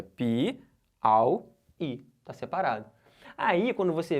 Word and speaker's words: Piauí: Vamos separar a sílaba de Piauí? Piauí. Beleza? Não pode ser tudo junto lá, é Piauí. Não vai ficar Piauí. Não pode ser um Auí junto, é Pi-au-i.